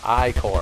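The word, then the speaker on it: Ichor: need aid aid me ooh The Chalice that's pronounced I core all right iore choose your iore wisely refills all health and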